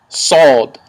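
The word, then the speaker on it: ص: shu the next letter is going to be solved solved which sounds like sword they said the letter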